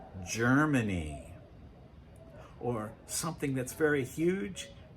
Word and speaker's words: Germany: Now, the letter G, especially at the beginning of a word, can also represent the J sound, especially if it comes before the letters E, I, or Y. Like in the country, Germany.